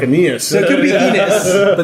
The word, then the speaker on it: Aeneas: It was A-E-N-E-A-S or something. Okay. Oh, so it's sort of like Aeneas. So it could be Enos. But the correct pronunciation is actually Anus.